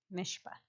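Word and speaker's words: משפט: Spell it. M-S-H-P-T. Mishpat.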